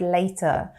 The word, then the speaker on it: later: as well but again they would have the American t the tap t sound when they say the word later so talk to you